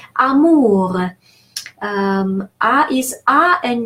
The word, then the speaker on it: amour: And the final R is an exception to the rule of thumb I just mentioned. So the rule of thumb states that the final consonant is silent. But in this particular case, R is pronounced amour.